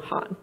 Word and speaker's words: Khan: And Javeria pronounces the name Han.